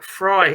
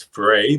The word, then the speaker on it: Fry: Yeah, look, first and foremost, I think I sort of pronounced his name as Frey, but I do now believe it is Fry as opposed to Frey.